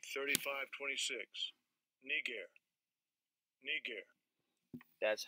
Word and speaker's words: Niger: Strong's G, 3526, Niger, Niger. That's how it's pronounced, all right?